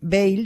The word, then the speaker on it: Veil: dos francesas y hombre si fuéramos franceses pues seguramente pronunciaría de manera distinta pero decimos Bale sí decimos ba Y